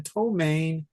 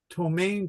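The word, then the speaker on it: ptomaine: from tomain t o m a i n tomain or uh not domain it's tomain I can never spell this right you guys tomain tomain poison in let me see tomain tomain poisoning I can't spell it right it's pronounced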